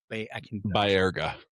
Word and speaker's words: Baerga: How do you say Baerga?